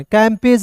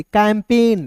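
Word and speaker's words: campaign: समझ गए ठीक है सी ए एम कैम पी आई एन पी और जी एन को जॉन कैंपेज नहीं पढ़ेंगे कैंपेन क्या पढ़ेंगे कैंपेन क्यों क्योंकि जी यहां पे दोस्तों साइलेंट होगा फिर देखते हैं दोस्तों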